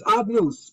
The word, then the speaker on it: Adnus: We don't pronounce the name the way it's written. Only the Kohen Gadol could do that in the Kodesh HaKodashim on Yom Kippur. So we pronounce the Shem Hashem as Adnus. Baruch Atah Hashem, we say Adnus.